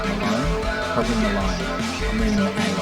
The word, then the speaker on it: Malone: It probably rhymes with alone. Malone?